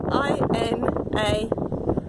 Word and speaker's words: Inani: How do you spell it? I-N-A-N-I.